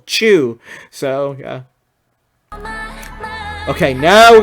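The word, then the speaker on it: Chuu: like that so and her name is easy to remember it's just one syllable chew so yeah okay now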